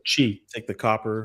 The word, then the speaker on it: Qi: a key charger or QI or whatever, just like Chi. take the copper Pronounced Yeah, chi.